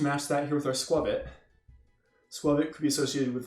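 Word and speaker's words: Skwovet: It's not a long O sound, it's a short O sound. It's scroll plus covet. Squirvet.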